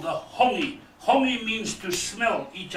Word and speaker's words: hongi: Now, the name for that, a very important traditional activity, it's called hongi. Hongi. You say hongi. Let the two chiefs. Hongi. Holy.